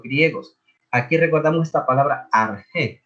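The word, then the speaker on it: ἀρχή: Aquí recordamos esta palabra arge. Se escribe arche, se pronuncia arge.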